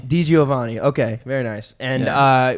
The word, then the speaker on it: DiGiovanni: wait how do you say your last name d giovanni d giovanni okay very nice and uh we've been singing